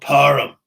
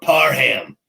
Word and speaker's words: Parham: And my double deep danger dive of the week, speaking of tight ends, is Donald Parham or Parham.